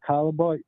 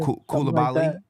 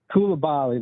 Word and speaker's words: Koulibaly: I like, how do you say Calaboy? I'm not sure how you say the French kid, Calaboy. Koulibaly. Koulibaly.